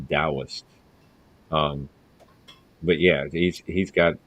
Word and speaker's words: Taoist: that it's not pronounced Taoist. The T is a D, so it's pronounced Taoist.